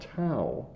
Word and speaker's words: tau: It's also called tau. T-A-U is how we would spell that.